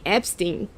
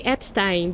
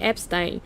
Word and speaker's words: Epstein: the Epstein files, because you guys say Epstein and it's not the way you should be saying it. Because if you were us saying it, we would say Epstein because it's a German origin name and the IE means I, so it should be Epstein.